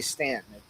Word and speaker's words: Staunton: Is how they pronounce the name, but they say Stanton.